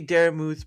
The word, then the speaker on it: Daramuth: Well, it's my basis is off the word vermouth, right?